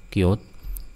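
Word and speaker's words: Qt: Ini kit tapi bacanya cute termasuk sudah ada cute desainer.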